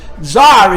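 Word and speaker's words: czar: caesar and ala zelbot zar is spelled cz a r in English the C is silent.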